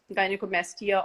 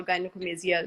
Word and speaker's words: gynecomastia: were talking about gynecomasia gynecomastia or gynecomastia both pronunciations are correct so what happens is